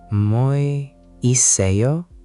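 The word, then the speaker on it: 뭐 있어요: Mwo isseoyo? Mwoisseoyo? Good try. Just smooth it out a bit more. The uh in mwo is short. Mwoisseoyo.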